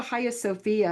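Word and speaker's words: Hagia Sophia: So if you go to Haya Sophia or it looks like Hagi Sophia when you spell it um huge church in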